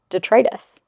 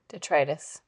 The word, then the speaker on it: detritus: You know, you taught me how to say the word detritus. Detritus.